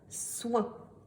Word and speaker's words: oin: Nouvelle syllabe S, O, I, N. Comment la lisez-vous? Oui, c'est la syllabe soin.